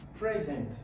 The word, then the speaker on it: present: Now, present, good. Present is the noun. This is my present. That's my gift. Okay? Now, you now have present. Present is the verb.